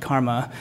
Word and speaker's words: CCRMA: This is the Center for Computer Research in Music and Acoustics, CCRMA, pronounced Karma.